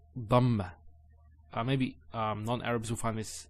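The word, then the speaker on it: ضمة: Notice when I say dhamma, it's very important. Some people actually they don't say it with a dad. They say it with a dal. So they say dhamma. It's not dhamma. It's dhamma.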